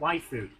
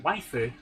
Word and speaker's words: waifu: But if you're copying a word from a foreign language into Japanese, the U on the end is usually unvoiced, so that they can pronounce the consonant.